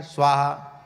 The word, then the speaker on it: स्वाहा: क्या कर स्वाहा स्वाहा स्वा के ऊपर ही कई बार आहुति गिर जाती है हा के ऊपर तो लौट के आ जाते हैं स्वा स्वाहा ऐसे हो जाता है स्वाहा स्वाहा और उच्चारण करना चाहिए मानसिक उच्चारण करने से